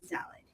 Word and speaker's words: Zalud: Tell him my name is pronounced Zalud.